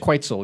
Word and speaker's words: Quetzal: Quantal Quetzal. Is it a bird? Quetzal, yes.